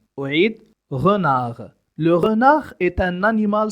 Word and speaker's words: renard: لا أنطق الحرف الأخير من الكلمة. أعيد renard.